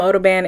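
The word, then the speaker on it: OdoBan: I just sprayed some oo band in there I think that's how you say it it's like odor band but Odo ban that's how it's spelled anyway I just recently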